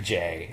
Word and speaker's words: Jai: And then the other big problem with this movie is Jai Courtney, or Ja Courtney. It's J-A-I. It's Jai Courtney. I'm pronouncing it Jay. It's not Ja. He's not Jamaican. 2015 Sam Worthington model.